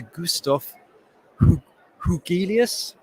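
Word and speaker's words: Gustaf Hugelius: i'm now going to hand you over to gustaf hougheelius from stockholm university thank you very much for that introduction and correct pronunciation of my name so i'm gonna start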